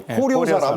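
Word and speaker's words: Корё-сарам: 다양한 표현으로 불리고 있습니다 그러니까 발음이 매우 특이합니다 코레 이치 코료 사람이에요 코료 사람 저 그대로 러시아로 저렇게 쓴답니다 네코스시 한민족의 이걸 그냥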